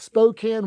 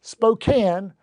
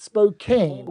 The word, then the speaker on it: Spokane: So, episode 351 with Carl Hillesland about Spokane, Washington. So, it let's start here. It is Spokane, not Spokane.